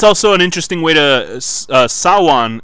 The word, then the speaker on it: Samhain: an interesting way to Sawan is the pronunciation of Samhain you know it's written Samhain you're supposed to call it one so I didn't hear